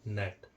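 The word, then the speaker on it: gnat: जब पढ़ते हैं दोस्तों हम पढ़ते हैं इसको नेट क्या पढ़ते हैं देखने में नेट नहीं पढ़ते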